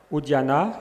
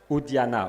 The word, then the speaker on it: Udyana: First, the name of a place, Udyana, U-D-Y-A-N-A, which is a spelling which relates to a pronunciation quite different from Udyan. It's different, Udyana.